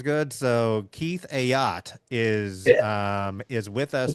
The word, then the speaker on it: Ayotte: I've probably called him Keith Aote. Right? Everybody goes, "Oh, Keith Aod. Keith Aody." It's actually pronounced not a boat, but a yacht, right?